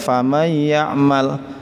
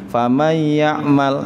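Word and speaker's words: فَمَنْ يَعْمَلْ: Kita membacanya ya enak saja, faman ya'mal. Apa sudah benar? Ternyata belum. Belumnya di mana? Di situ simpelnya baru idgham, tetapi belum gunnah. Famay ya'mal.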